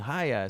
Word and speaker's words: Chaya: I said, Mom, they're not saying Chaya, they're saying Chaya. So I tell the crowd to say Chaya. And they're like, Chaya. And I'm like, no, say it like a Jew.